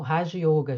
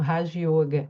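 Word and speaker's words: Raja yoga: Márcia, o raio yoga, já tô pronunciando mais correto, tá? O rajo yoga.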